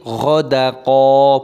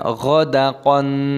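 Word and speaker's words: غدقا: Dan di sini ghadaqa, bukan ghadaqon, dibaca mata iwad, dipanjangkan qafnya. Wa allaw istaqamu 'ala tariqati la asqaynahum ma'an fu.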